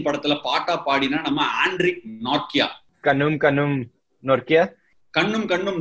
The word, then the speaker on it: Nortje: It has got N-O-R-T-J-E. In India, we will definitely call it as Nortje. And how are we supposed to call you? It's Nortje, but Nortje, whatever you're using, that's fine.